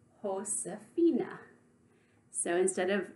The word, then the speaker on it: Josefina: pronounce it remember that in Spanish J is pronounced like H that means ho Safinaz name is pronounced host Safina so instead of Josefina with a J in